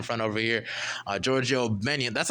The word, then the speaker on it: Gbenyon: over here uh Georgio benan that's how you pronounce it benan yeah yeah it's uh benan the g is silent it's GB n y